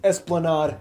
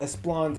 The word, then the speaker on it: Esplanade: first of all mispronunciation it's esplanade not as blonde my mistake second of